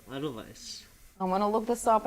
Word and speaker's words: Edelweiss: I was corrected by pronunciation. Edelweiss.